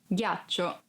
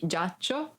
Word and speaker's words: ghiaccio: Ghiaccio, ice. Ghiaccio, ice. Be careful because if you don't pronounce G as a hard sound like G, it would be giaccio, that it's a verb and means lie down.